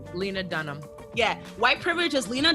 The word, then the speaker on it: Lena Dunham: Atlanta Denholm how do you say her name Lena Dunham yeah white privilege is Lena Dunham attacking Odell Beckham jr.